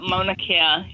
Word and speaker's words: Mauna Kea: Mauna Kea.